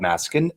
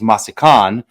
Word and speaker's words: Massican: with Dan Petroski with used to be called masin and now I'm pronouncing it correctly which is masan why would I not know it's masakan makes